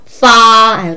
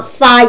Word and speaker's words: 发: 发准点出发发 얘기할 때 입술 물으세요.